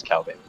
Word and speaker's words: Cal Balin: That's how you say it. It's not No Balin, it's Cal Balin.